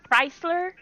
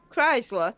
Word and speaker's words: Chrysler: you pronounce the word what's that word? Chrysler? Who? Chrysler.